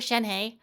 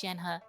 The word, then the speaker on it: Shenhe: name is prince chad i keep calling her shanghai but i guess i guess her now her name is pronounced jen huh kind of like like like coaching i i